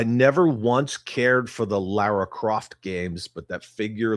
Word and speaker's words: Lara: How many people say her name wrong? Always. English Britw woman. People say Laura.